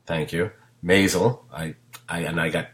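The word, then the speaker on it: Maisel: I always mispronounce the name Mazal thank you Mazal I I and I got scolded heavily by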